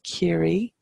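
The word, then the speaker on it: Ciarraí: going to go over to carry which is carry which is named for the people of care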